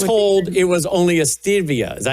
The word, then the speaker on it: stevia: And so because I was told it was only a stevia.